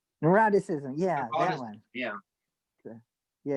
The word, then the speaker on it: neuroticism: Neuroticism. Neuroticism, yeah, that one. Yeah. Yeah, it rhymes with eroticism.